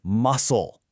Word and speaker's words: muscle: And right alongside strength is muscle. Muscle. Now, really pay attention to the pronunciation here. That C is totally silent.